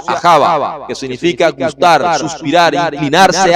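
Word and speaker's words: אהבה: Javá se pronuncia ajava, que significa gustar, suspirar, inclinarse hacia.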